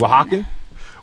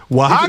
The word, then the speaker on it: Oaxacan: Oaxaca. Oaxacan. Oaxacan. Listen, you can't expect high people to pronounce hidden letters like that.